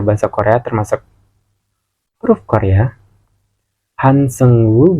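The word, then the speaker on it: Han Seung-woo: Korea termasuk huruf Korea hansengwu bukan dibacanya hansengo ya tapi hansengwu pokoknya gitu atau kalian bisa panggil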